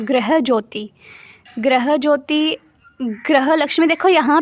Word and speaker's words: गृह: गृह ज्योति, ग्रह लक्ष्मी, देखो यहाँ पे जो है इन्होंने ग्रह के GRUHA स्पेलिंग दिए हुए हैं, बट इसको हम बोलते